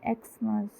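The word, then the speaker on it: Xmas: इसी तरह x ray, एक्समस लिखा जाता है कॉन्सोनेंट से, बट आवाज़ किसकी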